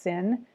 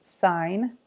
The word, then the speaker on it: sine: if you see this it's not pronounced sin its sine which is actually spelled with an e but this SI n